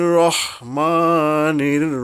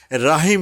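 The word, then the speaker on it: رحيم: অক্ষর আছে র এই যে র এর উপর যদি জবর থাকে তখন কিন্তু আকার উচ্চারিত হবে না যেমন বিসমিল্লাহির রাহমানির রাহিম রাহিম বলি অনেকেই বলে থাকে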